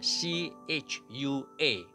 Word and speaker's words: Chua: 英语蔡在新加坡英语的拼写是 CHUA Chua Mr.